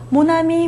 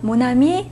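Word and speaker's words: mon ami: 그래서 남자 친구든 여자 친구든 발음이 똑같이 돼요. 철자만 살짝 다르고요. 모나미, 모나미 똑같이 되는 거죠. 남성 남성형, 여성형이 다른 어 철자지만 같은 어 형태의 소유 형용사를 가지고 다른 아 같은 발음이 되는 거죠. 자, 그렇죠. 모남이. 남성형도 모남이, 여성형도 모남이에요. 왜냐하면 모음으로 시작했기 때문에 자, 모음으로 시작하지 않고 자음으로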